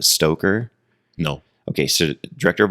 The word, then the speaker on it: Stoker: Stoker, not Stroker, Stoker. Yeah, no R. The R is silent.